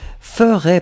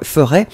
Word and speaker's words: ferai: Souvenez-vous, le futur, on le prononce exactement comme ça, mais il n'y a pas de S. F-E-R-A-I. Juste comme ça. Si vous mettez le S, c'est le conditionnel.